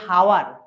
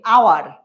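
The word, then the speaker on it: hour: সবাই বলছে ভাইয়া কেন আমরা কিন্তু বলছি না যে হাওয়ার আমরা কি বলছি আওয়ার তো উচ্চারণটা কিসের মত হচ্ছে মত মতো হচ্ছে কনসোনেন্ট হচ্ছে না তো মানে এইচ উচ্চারিত হচ্ছে না এখানে এইচ উজ্জ্ব দ্যাটস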